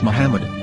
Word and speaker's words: Muhammad: Yehuda Hebrew English dictionary it is correctly pronounced as Muhammad not mad so how we're going